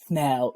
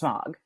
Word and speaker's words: Smaug: Smaug. Nobody would ever pronounce it that way. It's Smaug.